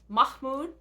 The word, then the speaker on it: Mahmud: know I looked up how to say it Mahmud M Mahmud Darwish quote so written in Arabic